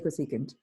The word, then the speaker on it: cosecant: You can't read it like cos or tan. You have to say cosecant. It's kind of hard to pronounce it otherwise.